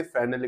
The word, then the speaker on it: Fresnel: इसमें हम पढ़ रहे थे फ्रेशनेल इक्वेशन, जिसे हिंदी में बोलते हैं फ्रेनल, और एल आजकल साइलेंट है जिसे फ्रेने इक्वेशन ही बोला जाता है।